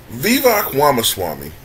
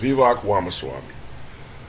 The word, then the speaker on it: Vivek Ramaswamy: So, Vivek Ramaswamy, I guess that's how his name is pronounced, Vivek Ramaswamy, who I believe is a man of Indian descent, whose parents were immigrants.